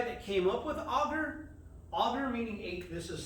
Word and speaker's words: agar: Agar meaning, this is spelled A-G-A-R.